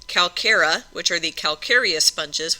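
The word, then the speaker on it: Calcarea: That sounds like a K. Calcara which are the calccarious sponges which means that they have lots of calcium in them.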